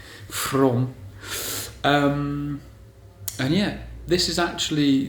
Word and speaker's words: Frome: Yeah, so today we are in Frome, and that's spelled From with an E on the end. Frome.